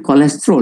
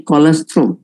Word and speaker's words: kolostrum: Mungkin ramai yang salah pronounce, ini bukan kolesterol, ya, ini kolesterol.